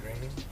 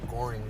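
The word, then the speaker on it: Groening: Matt Graing. Matt Graing. No, he has like an X in his signature. That always threw me off. I used to pronounce his name Matt Goring or some like that.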